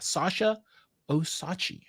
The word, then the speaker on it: Sasha Osachi: Today, we have Sasha Osachi. Very well. You said it beautifully. Yes. Right no, I love it. Thank you. With a silent D. The D is very much silent.